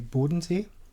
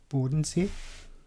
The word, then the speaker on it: Bodensee: And the second in the ranking is the Bodensee, Lake Constance, Bodensee.